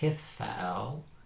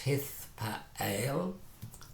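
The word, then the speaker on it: Hithpael: or 7 conjunctions is hithfaal. Hithfaal. And you see again, this time we've added a whole consonant, a whole syllable to the front. Hith to the front. So it's hithfaal.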